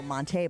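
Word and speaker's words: Montee: Monty Ball. No, Monte Ball.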